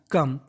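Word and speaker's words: come: ये होता है कि इंग्लिश की 99% मीनिंग के अगर आखिरी में ई लिखा हो तो हमें ई का उच्चारण नहीं करना। तो मीनिंग बन गई कम।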